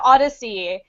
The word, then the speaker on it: ODY-C: Jack Jack uh yeah it's pronounced Odyssey um even though it's